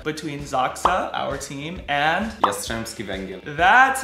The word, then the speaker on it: Jastrzębski Węgiel: Today we're gonna be watching the 4th match from the final series of the Polish Plus Liga between Zaksa, our team, and Jastrzebski Wegiel.